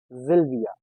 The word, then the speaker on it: Sylvia: In German language, S sounds as Z. A very common name for girls, Sylvia, which starts with S. And we call it Sylvia, not Sylvia.